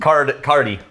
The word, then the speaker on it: Càirdeas: It's Càirdeas. Cardi. It's pronounced Cardi. Like Cardi B?